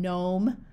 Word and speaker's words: gnome: and an N together the G is often silent like in Gnome or na or sign